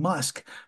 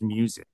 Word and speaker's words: MUSQ: in music industry ETF it's almost sounds like it should be for Elon Musk because it seems like it's pronounced musk but it's m musq I'm not going to try to pronounce uh mus Q music I think that one's music is that supposed to be pronounced music I think that one's pronounced music all right all right